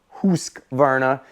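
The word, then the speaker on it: Husqvarna: Toro, Honda, John Deere, Husvarna, or Husk Varna as some like to pronounce it, Snapper.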